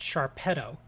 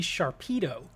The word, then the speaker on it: Sharpedo: that's what i was saying it's it's it's pronounced sharpedo it's it makes sense that it would be sharpedo because of the way that he attacks at